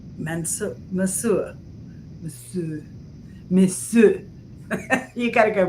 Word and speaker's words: monsieur: Although, I always had the worst time pronouncing uh, Mansour. Mansour. Monsieur.